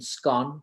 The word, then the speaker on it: scone: offered a word which some of us would call scone. Those of us in the audience, Rab from Scotland, would say it's pronounced differently, as in scone, but we're going to go whatever way you want to pronounce it is fine with us.